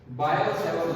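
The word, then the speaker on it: Biot-Savart: बायो-सेवर्ट लॉ, ये हमारा पहला रूल है, बायो-सेवर्ट लॉ। टी साइलेंट है इनमें, ये दो साइंटिस्ट थे।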